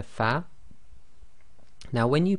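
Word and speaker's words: ف: we have the letter fa now when you pronounce the letter fa your Upper Front Teeth should touch the inner wet portion of your bottom lip so say far far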